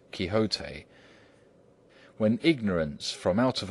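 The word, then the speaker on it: Quixote: to know know that the gentleman's name is pronounced kote when ignorance from out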